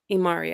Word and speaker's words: Imari: marvelous uh so for your your studio imari imari I hope I'm pronouncing that correctly yes it's from Eva marinova